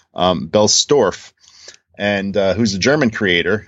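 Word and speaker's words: Bellstorf: our belt sorry I said in his last name wrong Bell store and who's a German creator and the book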